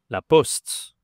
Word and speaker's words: la poste: On dit tout simplement la poste. Attention he la prononciation ici ce n'est pas post. En anglais, on dit plutôt post. OK. En français c'est le son. La poste.